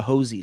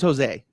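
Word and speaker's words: José: I don't like the Hosey stuff. His name's Jose, but that's neither here nor there. I won't do the Hosey. Americans can't pronounce his name right.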